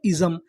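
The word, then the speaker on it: ism: आई एस एम को हम लोग पढ़ते हैं इजम।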